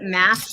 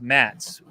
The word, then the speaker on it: Mads: You pronounce it mass, but it looks like Mads. So in Swedish, it's pronounced Mats, right?